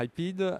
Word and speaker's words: Hypeed: Ça s'écrit comment Alors, Hypeed, ça s'écrit Hypeed. C'est comme hype et speed, rétracté en un mot.